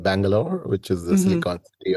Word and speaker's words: Bangalore: Is it how you pronounce? Yes. Bangalore.